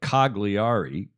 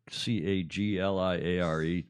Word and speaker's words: Cagliari: It looks like Cagliari, Cagliare, pronounced in Italian, I'm advised. Cagliari.